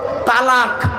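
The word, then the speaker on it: طلاق: Islamic পরিভাষায় একটা শব্দ বলেছে কি বলুন তো তালাক তালাক ঠিক না বেঠিক শব্দটা তালাক নয় শব্দটা হলো তলাক তলাক তলাক তলাম আলিফ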